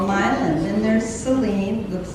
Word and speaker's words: Milan: like Milan it looks like it should be pronounced Milan Italy but no it's called Milan then there's Celine looks like it should be